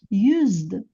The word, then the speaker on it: used: Actually, s sound letter s is pronounced as z, use. That's why when adding d, we get used.